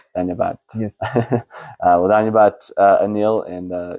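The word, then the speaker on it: धन्यवाद: Dhanyavad. Dhanyavad.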